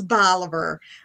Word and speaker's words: Bolivar: things but susan uh susan does say it's bolivar it's okay all right so the pronunciation there it's bolivar um so well welcome